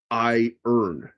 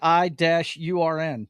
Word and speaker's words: iron: the weekend because uh as an American uh I pronounce it I earn. Yeah, I was fixing to say I- URN is would and